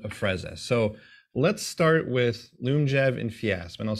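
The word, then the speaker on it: Lyumjev: inhaled insulin called afrezza so let's start with loom jab and fiasp and i'll say these over and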